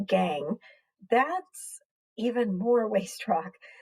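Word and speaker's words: gangue: to be dumped somewhere the gang that's pronounced gang that's even more waste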